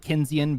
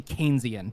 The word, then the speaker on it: Keynesian: a an so kinan I call it kinan because I've been saying it for the last 10 years but it'san yeah it's actually Keynesian because KES was the name of the guy that invented it and it's a ban